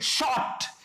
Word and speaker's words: short: ट, शॉर्ट, क्योंकि are silent है। इंग्लिश में आर तब तक नहीं बोला जाता जब तक कि उसके पीछे कोई वाउल साउंड ना दिया हो।